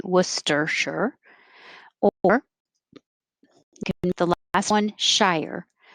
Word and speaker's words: Worcestershire: or you can say worcestershire or the last one shire and i spelled it shy with an er worcestershire worcestershire and the only